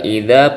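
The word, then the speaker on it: إِذَا: Nah, ini juga idza panjang 2 harokat, ini sama seperti ini bacanya dza ya. Jangan zai, bukan zai, bukan z tapi dza. Idza rujjatil.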